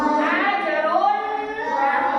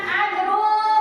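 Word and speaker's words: أجر: Ajrun. Nah, harus jelas ya. Jangan ajrul jangan. Karena ini izhar ya.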